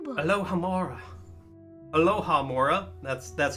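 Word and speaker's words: alohomora: me Lora the alohamora spell book alohamora alohamora that's that's how you say it um but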